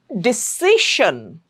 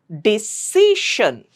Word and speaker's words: decision: Decision. You may have a little challenge in pronouncing this word because there's a s and a sha one after another. Decision. Permission.